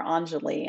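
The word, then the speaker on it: Enjoli: There was a perfume commercial for Anjali and it's spelled E-N-J-O-L-I.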